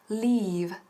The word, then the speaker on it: leave: Y también cuidado y ojo con la pronunciación de leave. Leave, fíjate, leave, to be on sick leave. No decimos leave, sino leave, leave.